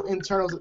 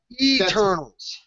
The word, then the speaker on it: Eternals: also the Kree is part of the whole Internals. I mean, Internals as well. I'm sorry, I'm gonna say that name wrong again. Internals as well is part of the whole umbrella arc. Eternals.